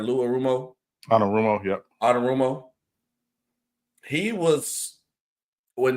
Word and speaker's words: Anarumo: Now, the next one, Sean, on the list is Bengals defensive coordinator Lou Arumo. I think I said it right. Lou Arumo. Anarumo, yep.